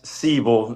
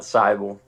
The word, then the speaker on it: Seibal: It's Seibal, not Seibal, unfortunately.